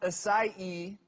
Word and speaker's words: acai: So the berry's pronounced acai, even though it's spelled A-C-A-I.